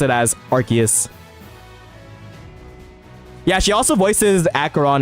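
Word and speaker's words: Arceus: An official Pokemon company employee worker told the voice actor for Cynthia pronounce it as Archus.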